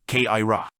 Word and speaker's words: Kaira: Kaira is the word for those of third degree which they pronounce kra.